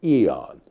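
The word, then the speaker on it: aeon: terms of singularity being an eon or as I pronounce it aon that is the one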